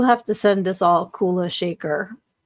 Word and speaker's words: Kula Shaker: Kulish Kula Shaker. What? I don't know who that is. Okay. Kula Shaker is how you say it.